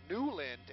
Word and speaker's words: Newland: right before new duelin newland as we learned is the pronunciation from one of the